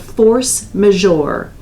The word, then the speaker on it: force majeure: your contracts and it is a provision called force majeure it's spelled fo RC e ma j EU r